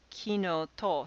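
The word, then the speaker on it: きのと: it as kino e and then there's kinoto so this is kino the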